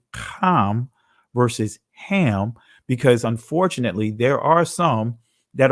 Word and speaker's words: Ham: pronunciation of it so the ancient pronunciation of Ham's name is calm and you will not